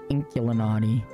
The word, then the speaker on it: Inkulinati: never say it right it's like Illuminati but with ink instead of alom inkulinati come on let me